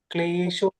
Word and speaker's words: क्लेशो: Klesho katarastesham. You play that. क्लेशोऽधिकरस्तेषाम् So, अव्यक्तासक्तचेतसाम् so klesho, klesho. You are saying so it's klesho. क्लेशो Show. So, Shesha Mataji. Not sa. Not so. Klesho. klesho.